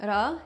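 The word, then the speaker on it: را: But in spoken language, they say ro instead of ra, and even o, because why pronounce more sounds when you can pronounce less?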